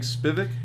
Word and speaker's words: Spivek: it wasn't something hell yeah so yeah Spivak you say that's me how it's pronounced yeah comic you're trying absolutely trying no